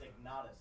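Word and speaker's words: Ignotus: Really quick, it's Ignatus. There you go, Ignatus. That's what it is.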